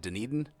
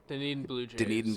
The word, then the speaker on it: Dunedin: all-star is starting his rehab tonight with honey pronounced at Dunedin Dunedin Blue Jays of singing Florida State League single